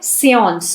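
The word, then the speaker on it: séance: 27 question है, पहला है सेऑन्स। इसका प्रोनाउंसिएशन क्या है?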